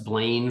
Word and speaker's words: Blaine: Yes, Blaine from Maine. It rhymes. It's easy to remember.